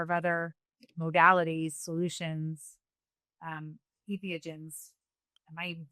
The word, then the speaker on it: entheogens: Do I try you know insert you know a number of other modalities solutions um ethogens? Am I even pronouncing that correct?